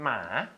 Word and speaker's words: หมา: หมา เสียง อะไร ลูก หมา หมา คือ เสียง หมอ นะ ลูก นะ มา คือ เสียง